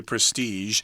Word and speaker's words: prestige: had a lot of prestige be careful that's got the Jo sound yeah don't say prestige or prestige yeah that's tricky you still gotta say prestige but prestigious is actually